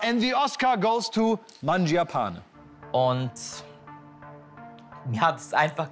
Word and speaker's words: Mangiapane: Matthias Mangiapane, so spricht man so aus, ne? Ja, ist richtig. Mangiapane.